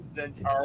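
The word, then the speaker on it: Zhentarim: One's spelled with an X and one's spelled with a Z, but they start off the same. They sound the same, yeah.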